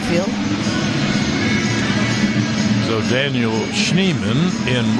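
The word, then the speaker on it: Schneemann: in right field Daniel scheman has gone into play right field I think he pronounced that wrong I think that's schneeman but you can go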